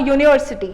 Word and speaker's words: university: like consonant, like a university. When you are talking about it, this is beginning with U, but still when you are pronunciating it, it sounds like Y.